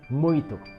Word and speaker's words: muito: us the correct pronunciation the last nasal diphthong that i'm gonna show you guys in portuguese occurs in the word muito it means many